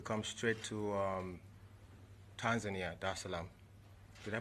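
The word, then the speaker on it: Dar es Salaam: the seventh to come straight to um tanzania da salaam should i pronounce that right yeah okay cool jerusalem there's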